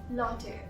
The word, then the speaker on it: latte: It's latte. Latte. Not latte, not latte, latte. Latte.